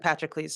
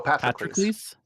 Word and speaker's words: Patroclus: I think Azzy and Patroclus have both not been asked a question yet.